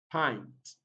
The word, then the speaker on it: pint: is letter i and the word itself is pronounced as pint pint so letter hi here has the sound it represents this sound is a different i i so let's take